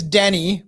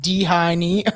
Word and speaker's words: Dheni: His name's Denny, but it's spelled Dheni. So I was like Dhini or something.